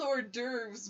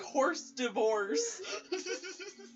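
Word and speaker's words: hors d'oeuvres: who are the whores they're called ordures but it's spelled like horse divorce was horse divorce it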